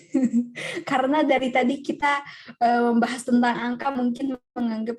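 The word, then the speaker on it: 木: Cara baca kunyomi atau Jepang aslinya ki, pohon artinya. Kemudian onyominya moku atau boku gitu.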